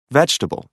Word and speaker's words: vegetable: The vowel immediately after a stressed syllable is sometimes not pronounced. Average. Different. Separate. Comfortable. Interesting. Vegetable.